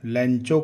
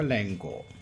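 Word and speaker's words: Lencho: इसको लेंचो करके भी कोई प्रोनाउंशिएट करता है, एक्चुअली इसका प्रोनाउंसिएशन होगा लेंको।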